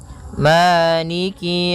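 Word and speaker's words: مَالِكِ: Kemudian kaf di sini ada huruf kasrahnya. Maka sempurnakan kafnya jangan seakan-akan diputus. Misalnya Maliki Malik yau. Jadi kemudian kasrahnya juga disempurnakan. Jangan sampai dibaca dengan e tapi dia i.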